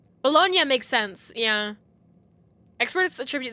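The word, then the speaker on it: Bologna: later Andreas until then the correct pronunciation is bolog bolognia makes sense yeah experts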